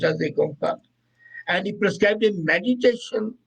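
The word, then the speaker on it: Ik Onkar: And then he depicted his God through an icon, Ekonkar, pronounced as Ekonkar.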